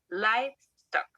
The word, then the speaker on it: livestock: En este caso, sí, la I se pronuncia I. Repeat, livestock, livestock.